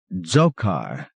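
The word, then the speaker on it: Dzhokhar: He pronounced his name differently from what Tim had been saying, and spelled it out. D-Z-H-O-K-H-A-R. An old name not meant to be laughed at.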